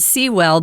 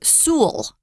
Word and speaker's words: Sewell: I knew someone, one person, one family, and they pronounced it Sewell, but here in the UK, they like to say Sewell, 2 syllables, or Sewell, just 1 syllable. So you can say it the way you choose. We're choosing to go with Sewell.